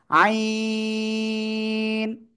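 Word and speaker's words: عين: গলাটা চেপে উচ্চারণ করতে হবে। এই অক্ষরের নাম হলো আইন। চারে লিপটেনে উচ্চারণ করতে হবে, আইন।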